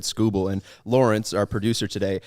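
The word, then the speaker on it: Skubal: to him facing tirique scuba to start sorry i said it wrong scooble to start the game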